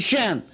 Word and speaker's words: shan't: shan't in American English, shan't in British English. there's no problem about it. it's a matter of like nt. when nt comes together for Americans t is silent, and when nt comes together for the British people it's not silent.